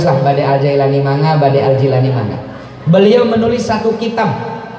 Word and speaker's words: Al-Jilani: Tantangan kita semakin berat, makanya Syekh Sultanul Auliya Syekh Abdul Qadir Al-Jilani, kita sering bacanya Syekh Abdul Qadir Al-Jailani ya. saya punya satu kitab 2 jilid tebalnya. Di sana disampaikan bahwa nama Syekh Abdul Qadir itu Al-Jilani bi kasril jim al-mu'jamah.